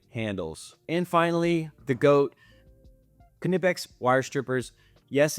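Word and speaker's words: Knipex: And finally, the Goat Kipex wire strippers. Yes, it's pronounced Kipex.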